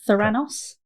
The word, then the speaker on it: Theranos: Thyranos. Like Thanos, but Thranos.